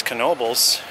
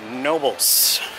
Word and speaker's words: Knoebels: correct pronunciation of knoebels i believe it's knoebels but i used to believe it was nobles a little bit